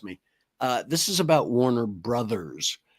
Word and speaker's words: Warner Bros.: It's Warner Brothers, not Bros.